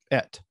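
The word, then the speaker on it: את: Et. I'm going to check my pronunciation to be used correct academic Hebrew. Et.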